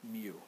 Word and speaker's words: mu: the normal force okay coefficient of friction we pronounce it mu it's a Greek letter mu it's kind of like a script U okay